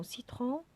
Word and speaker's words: citron: Dans cartable, carotte, cours, crayon, C se prononce K. Dans citron, le C se prononce S.